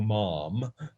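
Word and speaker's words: ma'am: that you can say sir or mom no what am i saying man sorry it has to has to rhyme with spam that's the way they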